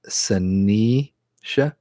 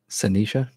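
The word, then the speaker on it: Saniša: It's the second S is like a sh, so it's pronounced Sanisha. Sanisha.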